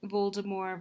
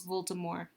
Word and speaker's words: Voldemort: versus frodo or um voldemor versus harry um it's interesting because everyone calls voldemort voldemort but he's a french it's a french term um and so you're not supposed to pronounce the t i'm just kind of